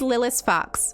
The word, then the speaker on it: Lilith Fox: How do I pronounce my name? My name is Lilith Fox.